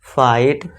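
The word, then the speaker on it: fight: इसी तरह इसमें भी देखिए जी एच टी आ रहा है। हां जीएसटी को साइलेंट कर दो। तो बस इसे क्या पढ़ेंगे? फाइट।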